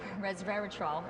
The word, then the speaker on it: resveratrol: are very good and so the that would Resveratrol is how you say it you you need